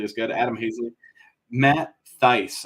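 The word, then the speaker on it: Thaiss: they're not nearly as good Adam haysley Matt Theiss it's it's pronounced thice and I'm disappointed I always thought it was Stace Matt dice Giancarlo Stanton Dylan cease rookie and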